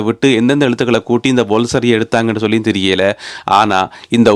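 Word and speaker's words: Woolfardisworthy: எழுத்தா கூட்டி கழிச்சு வாசிச்சா அது அப்படியே கிடையாது இதனுடைய உச்சரிப்பு வந்து இதுல எழுதப்பட்டிருக்கிற முறைக்கு ஒரு சம்பந்தமும் கிடையாது நீங்க நம்பவே மாட்டீங்கள் இதனுடைய உச்சரிப்பை நானே எழுதி வச்சிருக்கிறேன் வோல்சரி வோல்சரியாம் எங்கிருந்து இதிலிருந்து வல்சரி வந்தது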